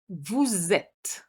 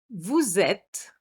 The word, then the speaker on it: vous êtes: Have you noticed I made a little liaison here, which is a compulsory liaison, vous êtes.